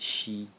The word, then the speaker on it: 惜: So the first character in the series is pronounced she in the first tone, and it means pity or regret.